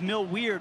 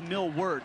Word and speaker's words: Millward: We all thought his name was Mill Weird when he was transferred. That's what we were told, but then some people actually decided to ask him how he pronounced his last name this year. It is Millward. That's how he says his name, and he's hoping to